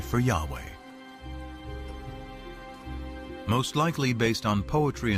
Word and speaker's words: Yahweh: knew God by his intimate personal name conventionally pronounced Yahweh passages with the name Yahweh which which in